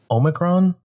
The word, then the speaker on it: omicron: known as Big Brother omicron my pronouncing that right how it's pronounced yeah that's right like a transformer Decepticon alright so it's been